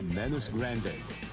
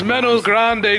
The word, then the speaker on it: Menos Grande: It's Menos Grande, dude. I can't even speak Spanish, and I can pronounce that shit better than you.